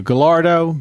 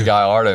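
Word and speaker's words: Gallardo: uh new baby uh replacing the the gardo what do you think guyardo sorry it's baby guyardo man V10 sound um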